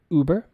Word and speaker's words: Uber: The pronunciation here is Uber.